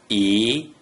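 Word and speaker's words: 一: When there is only a single digit 1 without any other digits inside the first three green circles, the digit 1 is pronounced E.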